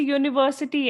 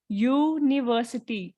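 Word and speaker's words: university: useful thing a European अब जैसे यूनिवर्सिटी है यूनिवर्सिटी तो य की आवाज आ रही है हमें बिगिनिंग में बिल्कुल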